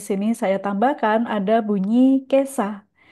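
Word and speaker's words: 今朝: Satu lagi di sini saya tambahkan ada bunyi kesa. Jadi ini cara bacanya beda lagi ya.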